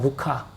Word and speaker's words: 루카: 믿지 않는 분들이 들으면 좀 헷갈릴 수 있는데, 근데 누가의 진짜 정확한 발음은 루카입니다. 루카.